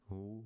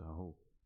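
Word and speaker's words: ふ: Moving to the h with ha, he, hu, he, ho, but the hu is sometimes pronounced as fu.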